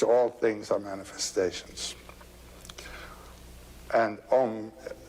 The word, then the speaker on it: Om: And Om, it's a wonderful word. It's written A-U-M. You start in the back of the mouth, ah, and then oo, you fill the mouth, and closes at the mouth.